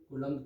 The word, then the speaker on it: coulomb: और वैसे इसकी स्पेलिंग देख लो, COULOMB, कोलम्ब की ये स्पेलिंग होती है वैसे, ठीक है।